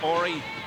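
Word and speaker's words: Horry: solid rookie year is aie he spells it h o r r y silent h the same for uh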